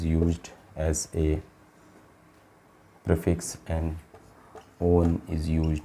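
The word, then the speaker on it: -one: और इसके लिए आपका जो ऑक्सो is used as a prefix and on is used, not called it as a one, it is pronounced it as a on is used as a suffix.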